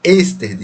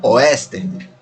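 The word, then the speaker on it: Ørsted: ser chamado na verdade destacou a pronúncia do seu nome como esteve não Oeste como como a gente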